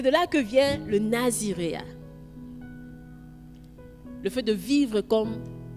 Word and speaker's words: naziréat: C'est de là que vient le Naziréa. C'est comme ça qu'on prononce, hein? Les intellectuels, c'est comme ça qu'on prononce. C'est de là que vient le naziréat.